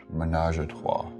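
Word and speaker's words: ménage à trois: It's a happy little menage a trois.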